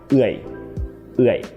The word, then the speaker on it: เอือย: This word has an เอือย sound, which is technically a 'triphthong'; which means that it has 3 units of vowel together: อึ, อะ, and อิ–เอือย, right? So, in order to pronounce this word correctly you have to– you must–blend these three units together into one sound: เอือย.